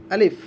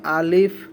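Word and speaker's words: ألف: আলিফ, আলিফ, আমার সাথে সাথে সকলে পড়েন আলিফ। আমাদের মধ্যে অনেকেই কিন্তু আলিফ না পড়ে আলিফ পড়ি আমরা, অর্থাৎ শেষে আমরা প পড়ি। প হবে না, এটা হবে ফ।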